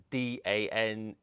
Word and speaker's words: Danae: So this is called Dekton Danae, D-A-N-A-E. I think that's how you say it, Danae.